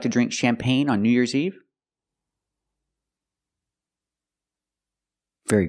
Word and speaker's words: champagne: And we see this word, champagne. You have an e at the end, but the e is silent. And the g is silent, too. Pronunciation champagne.